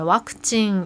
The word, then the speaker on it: ワクチン: 일본어는 그 영어 중에서 V자 스펠링이 있는 것은 대부분 와단으로 발음을 합니다. 지금 왁진이 백신인데 와크징 하고요.